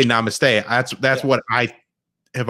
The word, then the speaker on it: namaste: it correctly yeah it's namaste which is like hummus like and then the t is flat it's like i don't